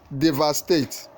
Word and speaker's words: devastate: devastate devastate D infectious the answer is C devastate the other option have the stress on the second syllable okay question 18 in